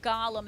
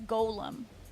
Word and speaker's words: Golem: it was a struggle it's not Gollum it's Golem um it might be